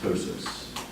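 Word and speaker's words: ptosis: this something called tosis not surprisingly spelled with a p but pronounced tosis so if I think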